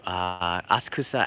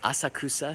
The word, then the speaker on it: Asakusa: people, well, they say, don't say Asakusa, say Asakusa. And you know what? It doesn't really matter. If you're saying it in English, there's another way to pronounce it. People say it in English, they say Asakusa. There's no right or wrong way.